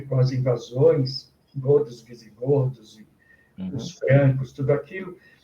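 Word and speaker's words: eau: E você escreve E-A-U, e se pronuncia O.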